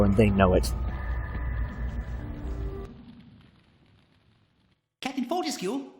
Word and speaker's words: Fortescue: Pronounced Fortescue, not Fortesque or whatever.